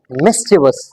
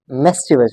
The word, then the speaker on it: mischievous: Word है वो है मिस्चिवस, मिस्चिवस। This word is pronounced as मिस्चिवस, mischievous, right? It's not mischievous. It's one of the most commonly mispronounced words in the English language.